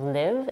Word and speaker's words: live: sound the same but the correct pronunciation of live is with the last I and leave is pronounced